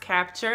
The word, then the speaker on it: Kapchair: a company called capture this is how you spell it but it's pronounced capture and I'm going to